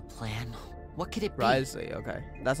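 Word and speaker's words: Wriothesley: Risley, okay. That's how it's pronounced.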